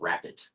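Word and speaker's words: Rappit: And then another example I'll share is a company called Rapid. And Rapid is spelled R-A-P-P-I-T, and it's actually founded by Jan Baan, who founded Baan Software back in the 90s, if you remember that.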